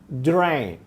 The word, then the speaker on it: drank: E o passado do drink, eu coloco azinho, mas na verdade eu vou falar como se fosse um E. Drank.